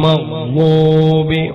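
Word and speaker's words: المغضوب: എന്റെ പ്രിയപ്പെട്ടവരെ ചിന്തിക്കോ, നാവിന്റെ രണ്ടാലൊരു സൈഡ്, രണ്ടാലൊരു മേലെയാണ് പല്ലിൽ മുട്ടിച്ചിട്ട് പറയുക, ഓയിരിൽ മഗ്ലൂബി മഗ്ലൂബി.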